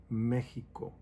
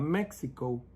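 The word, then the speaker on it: México: when you go to mexico it's not mexico it's mexico even though it has their x we don't pronounce it it's mexico in the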